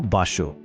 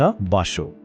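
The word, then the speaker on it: 場所: यो कान्जी हो बासो उच्चारण हुन्छ बासो यो कुनै पनि ठाउँ वा स्थानको लागि प्रयोग हुने एउटा सामान्य शब्द हो।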